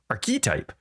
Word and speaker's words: archetype: hate our language okay so the archetype archetype our key type goodness we're never going to talk about Path